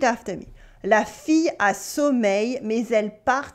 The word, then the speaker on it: sommeil: La fille a sommeil, mais elle part travailler. Here we have a y sound at the end of sommeil for sleep and in the middle of travailler to work.